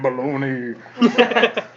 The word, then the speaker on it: bologna: have a degree in baloney it's balogna thank you very much I never understood that bologna why it's spelled bolog but said balone I'm sure somebody will